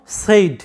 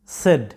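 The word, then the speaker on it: said: এইটার উচ্চারণটা হবে টেবিল টেবিল এরপর তোমরা এই উচ্চারণটা সাধারণত সেইড বলে থাকো বেশিরভাগ স্টুডেন্টরা এটাকে সেইড বলে উচ্চারণটা করে থাকে কিন্তু এটার সঠিক উচ্চারণটা হচ্ছে সেড সেড এটার উচ্চারণ সেইড নয় সেড সেড এরকম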